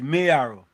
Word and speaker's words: Mayaro: It's not Mayaro, it's Mayaro. Mayaro? Yeah, it's Mayaro. M-A-Y is May. Arrow. Can be Mayaro. Anybody pronouncing it Mayaro, pronouncing it incorrectly.